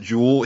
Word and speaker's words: Jools: Yeah, he shares my name, but then he pronounces it Jewel. He shortens it to Jules, but he spells it Jools, and I really like that.